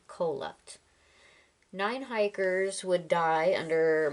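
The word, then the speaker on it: Kholat: the Eastern slopes of cup I think that's how it's pronounced k h o l a t cup nine hikers would die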